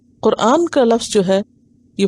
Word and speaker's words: قرآن: قرآن ہی ہے، اور صحیح لفظ اور تلفظ کیا ہے؟ قرآن، اور یہ خالصتاً عربی زبان کا لفظ ہے۔ قرآن مصدر ہے